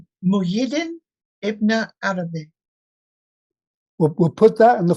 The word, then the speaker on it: Muhyiddin Ibn Arabi: It's Muhyiddin Ibn Arabi.